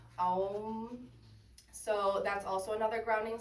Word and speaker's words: Om: Another noise that you can make is the Om sound, pronounced Well, sorry, it's Om.